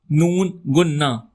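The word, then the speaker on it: ں: Nona. Repeat after me. Nona. It does not have any sounds itself. You can say it's soft non.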